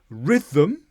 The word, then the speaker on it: rhythm: Rhythm. So here rh, no h sound at all.